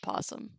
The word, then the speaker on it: opossum: just the pronunciation of possum and sometimes people write it without the oh because it's not pronounced Oh possum now I